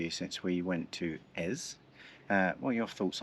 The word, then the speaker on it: Eze: And next stop is SA S S Ez uh spelled E Z E, but it's pronounced Ez.